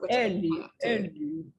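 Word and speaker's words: Eli: I mean, I think it's like Ellie, but they say it with a bit of a Swedish accent. Yes. Ellie.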